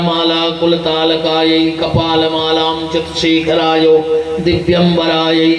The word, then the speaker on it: दिव्यंबरायै: तो जल्दी जल्दी में लोग गाउत है दिगंबरायै च दिगंबरायो, जबकि ये गलत है। अगर कोई मंत्र ना आए तो मत बोलना, चुपचाप सुनते रहो, क्योंकि उसके गलत परिणाम भी हो सकते हैं। शुद्ध उच्चारण ये है कि दिव्यंबरायै, जो दिव्य आभूषणों से सुसज्जित हैं।